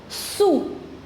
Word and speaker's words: sous: Sous. We do not pronounce the last consonant S. So, this is sous.